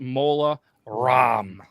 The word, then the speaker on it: Mola Ram: round is Voldemort versus mola ROM like CD-ROM but apparently it's spelled